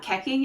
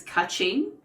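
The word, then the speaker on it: Keqing: guong bista oh so her name's not keking it's king I didn't okay I would have never thought to pronounce it that way who are you calling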